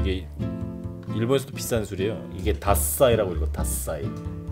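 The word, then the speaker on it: 獺祭: 이게 다사이라고 읽어.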